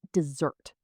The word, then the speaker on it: dessert: But the sweet food you eat after a meal is dessert. You put the stress on the second part.